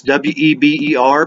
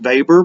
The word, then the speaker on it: Weber: It's Weber, but it's pronounced Weber because he was a German.